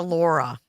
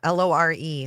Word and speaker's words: Lore: the Lura Lodge yeah it's not a Laura it's lore l o r e lore it's snore it's not Laura like Laura Bush lur